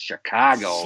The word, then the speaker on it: Chicago: That's how they say it, Chicago.